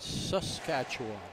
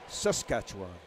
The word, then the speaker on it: Saskatchewan: They pronounce it Saskatchewan. Saskatchewan.